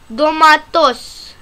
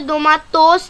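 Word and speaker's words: domates: डोमाटोस, डोमाटोस, इसको यहाँ पे डोमाटोस नहीं पढ़ेंगे, वैसे तो ये ओ लिखा है लेकिन इसको डोमाटस पढ़ेंगे।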